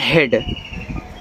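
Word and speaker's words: head: जब डी लगा हो तो ए का साउंड आता है। ठीक है? और डी से आपका ड, ए आपका हेड लगा है। यानी कि जब इ ए के साथ आपका डी हो तो आपका ए का भी साउंड आता है।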